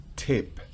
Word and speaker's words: tip: En las siguientes tip Recuerden que la t en inglés es diferente su pronunciación a la t en español tip tiene una especie de chasquido mientras que en español es simplemente si fueran español yo diría tipo pero en inglés no puedo decir tip no porque chip